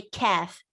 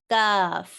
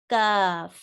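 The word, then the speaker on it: كاف: In English, we add a little bit of air when you pronounce a letter like K, K. But in Arabic, you should not say kaf.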